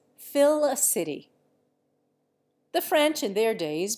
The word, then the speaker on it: Felicity: And Felicity, originally Félicité, is Fill-a-City.